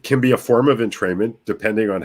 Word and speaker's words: entrainment: Entrainment.